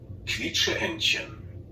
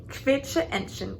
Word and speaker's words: Quietscheentchen: And then QU, is it? Yeah, it's like a KV sound, kv.